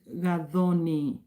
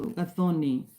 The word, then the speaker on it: Gathoni: The channel is called Midlife Power, and my name is Gadhoni. That is Gathoni. It's a Kenyan name. It's a Kenyan girl's name. So Gadhoni, that's how you say it.